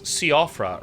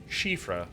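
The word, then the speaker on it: Siofra: i formerly described as siafra riverwell which is apparently correctly pronounced shifra riverwell went down here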